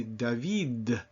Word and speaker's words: David: But if I were to say those same 2 words in French, I would say David. And my tongue is flatter against the roof of my mouth or the back of the front teeth.